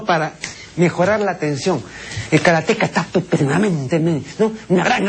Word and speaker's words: karate: tome un curso de karate, no de karate, esa es una pronunciación bárbara, karate.